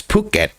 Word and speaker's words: Phuket: not you know it's it's it's phuket and every time i've ever heard say it's like very very understandable very noticeable pee it's not like a soft phuket you know regardless i